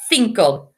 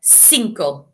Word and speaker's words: cinco: uno dos tres cuatro it sounds very similar to think in english finco i remember in spanish we said that say with that sound think of but if you're in south america you would say cinco okay so you can